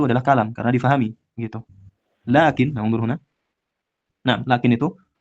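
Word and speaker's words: لكن: Dan termasuk saudara inna itu adalah yang lakinna bi tasydidin nun, dengan tasydid nun. Tapi kalau yang nunnya sakinah, nunnya sukun, maka dia tidak beramalan.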